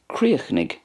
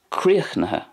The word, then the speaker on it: Críochnaigh: So I'm pronouncing it the way it's pronounced in Munster, Críochnaigh. In Connacht then we have more of a silence at the end of that word. It goes like this, Críochnaigh, Críochnaigh. And in Ulster, Críochnaigh, Críochnaigh.